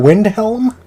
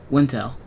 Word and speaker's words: Windhelm: Oh, Wintel. Wintel? Wintel? Did I say it right, Wintel? No, you did not.